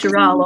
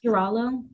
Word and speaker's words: Garullo: This is Girallo, I think it's pronounced. Girallo.